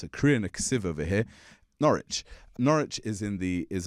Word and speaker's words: Norwich: It's written Norwich, but it's pronounced there's there's a silent letter. It's a Korean over here. Norwich.